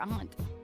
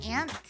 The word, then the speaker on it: aunt: Aunt? Yeah, like an awning.